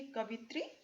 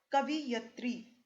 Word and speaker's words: कवयित्री: इसी प्रकार देखिए कवित्री और कवियत्री दोनों ही अशुद्ध हैं, इसके स्थान पर कवयित्री। उच्चारण से ही पता चलता है कवयित्री, तो ये जो शब्द है ये शुद्ध है।